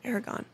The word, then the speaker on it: Eragon: was playing with I said it right right Aragon yeah Stone and it started squeaking and then